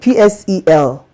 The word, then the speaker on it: PSEL: SEL, P is silent, PSEL.